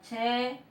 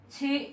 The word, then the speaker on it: she: Pero en el momento de pronunciar ya no es che, sino como esta E se haría o se cambiaría por una I como un poco más alargada. Ejemplo, para decirlo acá, que es escrito, está como tal, che is beautiful, pero su pronunciación se pone como una I un poco alargada, como dije anteriormente, y es she is beautiful.